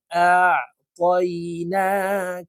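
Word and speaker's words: أعطينا: খারা জবর না কাফ লাম জবর কাল ইন্না আতাইনা কাল কাফ ওয়াও জবর কাউ জবর সাউ র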